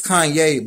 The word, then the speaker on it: Kanye: you know all I need is y'all to pronounce my name it's Kanye but some of my plaques they say he'll